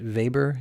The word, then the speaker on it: Weber: And certainly factories like Volkswagen, or if you're in Europe, Volkswagen, just like we pronounce it Weber in Europe.